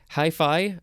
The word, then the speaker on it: hyphae: Hi-fi, I don't know if I'm pronouncing that correctly. It is spelled Hyphae. It's not like your hi-fi stereo that you had in the 70s.